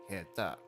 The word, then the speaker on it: 下手: However, in this case, we have heta. Heta. Though the pronunciation for the hand portion can change depending on the context. Again, in this case, it's pronounced ta instead of te, the usual pronunciation for it.